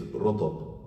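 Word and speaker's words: rutab: first date is rotab. Can you spell that?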